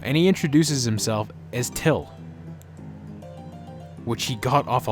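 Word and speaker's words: Thgil: he introduces himself as Till which he got off a light and fit Cartman brilliant brilliant writing till it spelled T H GI l but it's pronounced till why is Breen spinning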